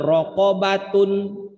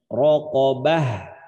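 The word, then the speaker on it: رقبة: atau misalkan pada bacaan rokobatun rokobatun harokat Akhirnya bombata in atau batein tanwin maka cara berhentinya Bukan dibaca rok obat Tapi bacanya raqabah rokok bahas seperti itu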